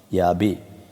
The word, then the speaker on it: Yahweh: According to tradition, the word was pronounced Yahweh.